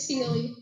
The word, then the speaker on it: Sealy: How do you pronounce it? Seal-eye pup? It's Sealy. Sealy.